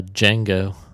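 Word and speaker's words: Django: uh preview for uh D Jango Jen the D is silent that's my uh Jamie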